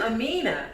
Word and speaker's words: Aminah: to read and sign with me thursdays i'm amina and my name is spelled a m-i-n-a-h and i'm kendra that's k-e-n-d-r-a